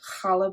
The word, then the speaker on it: challah: um they would pronounce it as kala bread.